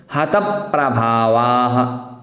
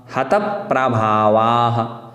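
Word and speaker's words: हतप्रभावाः: उसी प्रकार आगे देखना है, हतप प्रभावाः, हतप प्रभावाः। प्रा जो है वो प प्लस रा प्लस अ, इस प्रकार से निष्पन्न हुआ प्रा, तो हतप प्रभावाः ऐसा।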